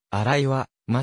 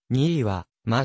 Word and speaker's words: 新居浜: 方はである甲子園で新井はまあ商業高校と読み間違えられたこともあるがにいはま商業高校である卒業後の進路